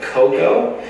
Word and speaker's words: Qoqo: this is a particular plugin called Coco that is spelled qoqo and what this allows